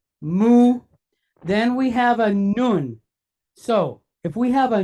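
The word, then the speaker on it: נון: Then we have a nun. So if we have a nun, any guess what sound that letter makes? An N sound, right?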